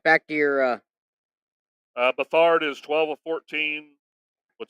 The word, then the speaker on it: Beathard: It's Beathard. I don't know how to say it. Yeah, It's like he's you been can't say around. He's been a penguin. backup for most Say of his penguin. career. I say Beathard.